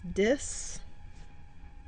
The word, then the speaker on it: disenfranchisement: So it's disenfranchisement. So it has 5 syllables.